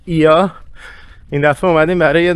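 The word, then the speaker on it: Oia: دوباره برگشتیم توی کلدرای اویا که البته تلفظ درستش هست ایا این دفعه اومدیم برای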